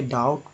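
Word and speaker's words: doubt: तो देखिए इसे डाउट पढ़ते हैं, डाउट नहीं, डाउट, यानी कि बी साइलेंट है यहाँ।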